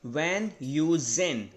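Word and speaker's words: Van Heusen: तो इसका actual pronunciation होता है वैन यूजेन, राइट, वैन यूजेन। तो इसमें भी एच जो है बिल्कुल साइलेंट है, वो उनकी कंट्री के हिसाब से वो उसको प्रोनाउंस नहीं करते हैं, तो आप बोलेंगे वैन यूजेन, राइट।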